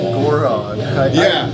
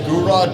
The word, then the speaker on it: Gorod: yeah I think so I've always pronounced it gorod well the only reason I pronounce it gurad now is because I figured when they're like we are gon it's like okay I'm going to go ahead and listen to what they how they pronounce it because yeah that's true